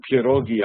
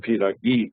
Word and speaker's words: pirogi: people Polish people make when I say pirogi I'm using the Polish pronunciation and not pagi which is the Russian pronunciation and in rusia are